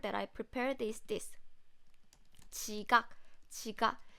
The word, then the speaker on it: 지각: 지각, 바지, not. So when you pronounce 지각, when 지 sound comes at the beginning of the word, then it sounds like CH. It sounds closer to CH.